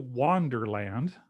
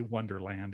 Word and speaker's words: Wanderland: year and then also welcome to wanderland which i have to pronounce is because i always say wonderland in my head um and if you've